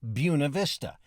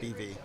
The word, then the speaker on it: Buena Vista: along with the feeling that it was officially pronounced buav Vista but that hasn't stopped Innovation people lived here a long time call it buy uh and a lot of people just call it BB okay you're an AP Spanish student how do